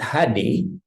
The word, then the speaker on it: Hade: But we call it Hade because it's not just H and D, because Indonesian bahasa pronunciation Hade, but we call it Hade because Hade is also having a meaning in Indonesia.